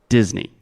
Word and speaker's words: Disney: money Miki money yeah Mickey like Mickey Mouse yeah so e at the end Disney Disney plus exactly okay